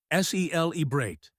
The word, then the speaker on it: celebrate: Pronunciation tip, sel eate, stress on the first syllable.